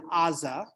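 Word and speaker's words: עזה: um right so so the Gaza Strip in Hebrew is Aza spelled with an iron so where did that G come from why do we call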